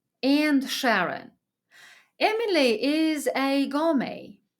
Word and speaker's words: gourmet: Emily is a gourmet. Let me better pronounce it in French: gourmet.